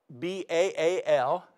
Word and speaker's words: Baal: Now, what about this god Baal? Baal, B-A-A-L, or in a Hebrew pronunciation, Baal, is the god of the atmosphere.